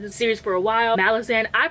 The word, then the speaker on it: Malazan: Malazan, I pronounce it Malazan.